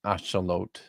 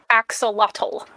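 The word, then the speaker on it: axolotl: It's not pronounced axelottle. Very nice. That is nat. It's a or aote if you want to use the Spanish.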